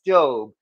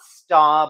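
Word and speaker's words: Staub: far as I know it is in fact pronounced stove not stab or stab because and that's what I thought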